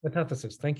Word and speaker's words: metathesis: There is this thing where of metathesis, right? Is that how you pronounce it? Where they just like to shuffle Metathesis. metathesis, thank you.